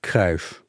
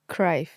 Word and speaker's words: Cruyff: Johan Cruyff. Cruyff. Cruyff. I'm going to call him Cruyff.